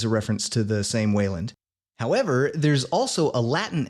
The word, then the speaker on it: Wayland: different spellings of a name that we generally pronounce as Wayland.